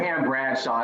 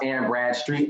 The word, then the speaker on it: Anne Bradstreet: I've been promoting this bitch's name wrong. Like the whole time. It's not Anne Bradshaw, it's Anne Bradstreet.